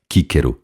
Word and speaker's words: Cícero: Pois então, se bobo é, que Cícero, Quíquero, na pronúncia clássica, me perdoe.